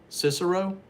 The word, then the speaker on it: Cicero: is that cicero illinois is that how you pronounce it cicero and the reason i'm asking is because my